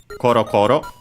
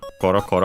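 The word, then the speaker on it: ころころ: Then we have cororo which is anomatoa should be so uh because of that accented on the first syllable but there's are some exceptions lucky not this one coroor accented on the first one in our case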